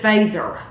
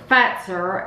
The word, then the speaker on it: Fazer: We would have said Fazer. Mm-hmm. But it's pronounced Fazer.